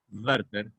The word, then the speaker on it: Werther: La W en alemán suena labio dental, Werther, y no gutural como ustedes están acostumbrados a pronunciarla en inglés.